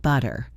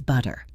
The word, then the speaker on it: butter: between two vowel sounds, it often becomes what we call a flap T. It sounds almost like a very quick, soft D. Think of the word water. In British English, it is often pronounced with a crisp T water, but in American English, it sounds like water. Listen closely. Water. Butter. Better. It is not butter. It is butter.